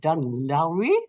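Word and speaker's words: Dún Laoghaire: in Dublin this year in dun Lowry I think you pronounce it as and this is a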